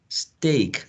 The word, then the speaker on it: steak: Street Bleek speak but then the yellow option is steak steak so we have a diphthong their steak like the word we say the word in Spanish be stick right be stick which is you know a piece of meat bistec be steak comes from beef steak beef steak so that's the pronunciation of this yellow option stake against streak bleak and speak okay any other questions